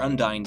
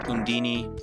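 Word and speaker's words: Undine: on unini day or undy day I always called it undy until a certain game called Tales of Symphonia uh pronounce it unini I'm pretty sure that's the way the Japanese pronounce it too um so I'm just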